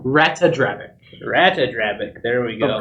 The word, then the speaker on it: Ratadrabik: Well, there you missed the A in the middle. Ratadrabik.